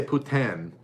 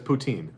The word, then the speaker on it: poutine: York I would think they say Putin is how they would say it properly potato but there's poutine yeah okay L'Oreal 560